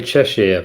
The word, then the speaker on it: Cheshire: Do you pronounce it in English, Cheshire or Cheshire? I say Cheshire, but I wouldn't always. I don't know what's the correct way. It's just the way I've always said it.